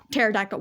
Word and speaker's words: pterodactyl: like plac or tan pterodactyl. Why is the P silent? Look, nobody knows why silent letters exist in the first place. Just don't add the letters if it's going to be silent. Exactly, bro. Like, what? It should have been parodactyl.